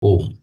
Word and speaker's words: ओम्: इसमें अ, उ और म इन तीनों से तीनों से मिलकर के बना है। जब इन इसका हम उच्चारण करते हैं तो ये बन जाता है ओम।